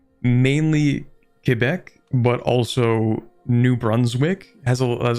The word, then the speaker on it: Quebec: But yeah, like there's more French than just in Quebec or Quebec. That's how they prefer that's pronounced.